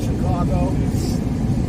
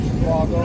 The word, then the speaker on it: Chicago: last year west of Chicago how you're supposed to say it right Chicago that's how they say it that's how my mom says it Chicago some people say Chicago my grandpa was born